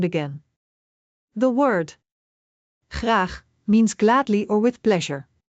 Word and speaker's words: graag: Graag. Remember, the G here is not like the English G. It is more throaty.